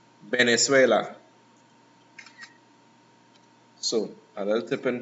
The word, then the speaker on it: Venezuela: produce a letter b so in spanish it's almost a mixture too to say to say the letter b and v so you hear people saying venezuela it sounds almost like venezuela just like the lips more likely yeah bottom lip touching your top teeth and the tongue is already frontal remote venezuela so another different pronunciation